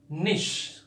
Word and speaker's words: niche: इसके बाद ये 5वां वर्ड, 5th वर्ड जो है आपका निश। क्या स्पेलिंग सही है इसका आपको लगता है?